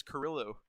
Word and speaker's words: Carrillo: We interviewed him last week, and Nathan said he goes by either one, but he pronounces it as Carrillo.